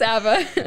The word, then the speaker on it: ABBA: Is it ABBA? ABBA. It's not pronounced a different way. ABBA the Fall. It's ABBA.